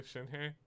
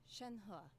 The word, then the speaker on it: Shenhe: Do I get to talk to Shinhei? Shenhe.